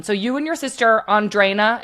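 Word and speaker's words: Andrine: So, you and your sister Andrina, am I saying that right? Yeah. Andrina. Yes. Andrina. Okay.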